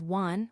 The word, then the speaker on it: wan: A dog’s bark in Japanese is “wan” which can be pronounced like the number “one.